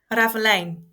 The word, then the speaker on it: Ravelijn: I liked Raveline. Is that how you say it? Raveline? Ravelijn.